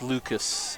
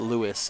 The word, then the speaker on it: Lucas: bit too much and it is Lucas uh sikman not Lewis as the PA announcer mistakenly pronounced his name at the beginning